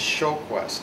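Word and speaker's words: Sjoquist: my name is my last name is showquest SJ o qu UI s t you do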